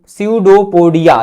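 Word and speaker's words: pseudopodia: Amoeba भोजन ग्रहण करने के लिए अपने कूटपादों कूटपादों मतलब कि सडोपिया पी साइलेंट है। क्या पढ़ेंगे? सडो सडोपोडिया। सडोपोडिया को बढ़ाकर भोजन को घेर लेता है।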